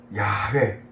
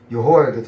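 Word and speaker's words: 야훼: 야회 여기 야회 발음은 여호와 여호와는 발음이 좀 틀렸다 좀 보고 있습니다. 야회 야외예요.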